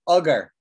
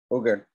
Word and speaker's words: augur: So the first is the word augur. Augur. You don't know what this means, do you? None of you know this word. Ogre.